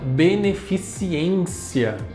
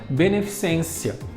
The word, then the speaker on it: beneficência: eu tenho palavra beneficência muita gente acaba colocando em onde não tem ele a palavra beneficiência então dá para você padrão dessa palavra é beneficência o que que é